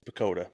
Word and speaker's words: PECOTA: baseball perspectus okay we're calling this picata or picota how do you pronounce this P it's pakota pakota I don't like that I like ricot cheese that's where my brain went well it is widely accepted as pakota fine makes sense if you sound it out because they released their